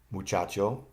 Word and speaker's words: muchacho: Muchacho, the accent is on CHA.